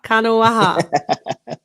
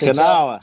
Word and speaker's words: Kanawha: Kanawa. It's Kanawha. That's Kanawha.